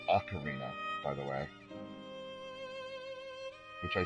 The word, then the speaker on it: Ocarina: And it is pronounced Ocarina, by the way. Which I said on Fernandez's Frustration Friday, it's Ocarina, not Ocarina.